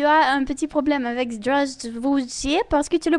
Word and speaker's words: Здравствуйте: Il faut quand même ouvrir la bouche et prononcer tout correctement sans manger les sons. Donc, tu prononces Здравствуйте.